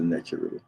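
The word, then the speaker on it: Netjeru: Sometimes it's just written with the letters NTRW. Pronounced Netcheru usually. So these are some images of the Netcheru.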